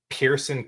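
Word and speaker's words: Pierceson: Pearson Cootie. Yeah, it looks like Pierce Session, doesn't it? It's Pierce as in I pierced your armor with SON on the end. That's the most incredible spelling of Pearson I've ever seen.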